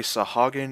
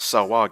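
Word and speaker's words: Sahuagin: to protect portlast from a sahagan invasion sometimes pronounced salwag independing on who you're listening to either way they are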